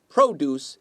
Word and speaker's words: produce: diarga in Zhejiang to produce if you emphasize if you stress the first syllable produce it's an uncountable noun it means fruits and vegetables to produce means to make mmmh all say produce